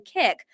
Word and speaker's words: Kik: are out there, you might ask, what is Kick? And it's spelled Kik is a social media app that